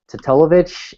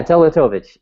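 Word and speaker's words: Teletović: So does I don't even want to try to say his name, but Tatolovich, I think is how you. Yeah, Teletovic.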